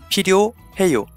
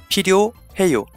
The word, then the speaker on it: 필요해요: So then come back and change the first syllable to 필. 필요해요. There you go. 필요해요. Or think of Dr. Phil. Who doesn't need Dr. Phil? Or at least I do. So take the PH from his name as an aspirated P.